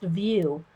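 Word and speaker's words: Wiuff: and Goddesses by Mitzi Satu, and it's called, pronounced View, W-I-U-F-F, and it's one of the little fairy mermaids out of that book.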